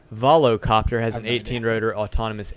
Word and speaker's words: Volocopter: Bell big helicopter manufacturer vilasa Copts Arvelo the how do you say that whoa copter volocopter has an 18 rotor